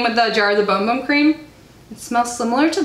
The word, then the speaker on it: Bum Bum: Seriously, I would recommend this over the Bum Bum Cream or Boom Boom Cream, I think is the right way to say it.